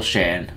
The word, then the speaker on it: Shan: up against the subscriber michael shan that rhymes with pan because he is a